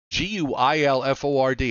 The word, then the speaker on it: Guilford: County New Haven County uh Gulliver golfer uh g-u-i-l-f-o-r-d how do they pronounce that Guilford Milford yes 2.78 Saybrook Manor